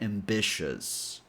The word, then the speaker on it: ambitious: So, this last syllable is shus. Putting everything together, we get ambitious.